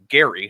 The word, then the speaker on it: Gerry: In fact, it's named after like an early Massachusetts governor named Elbridge Gerry, hard G.